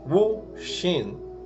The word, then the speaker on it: Wu Xin: Então hoje eu vou falar para vocês tudo o que eu descobri sobre o Hu Hsin ou Wu Xin, na pronúncia correta.